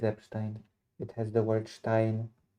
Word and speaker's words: Epstein: Yes, it's Epstein like Einstein.